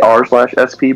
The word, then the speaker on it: RSP: YouTube, it should be r/sp. But I think when we say it, like we pronounce it out loud, we should just say RSP, the RSP podcast.